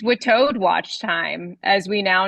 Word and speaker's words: WITAOD: Last week, it was determined officially by me, the official performing the duties of the acting administrator of the Witoad movement, that we are pronouncing it Witoad.